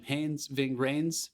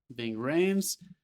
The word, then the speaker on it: Ving Rhames: Ving Rhames. Ving Rhames.